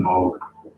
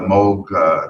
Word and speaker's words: Moog: I think I'm gonna have Tijon Moog.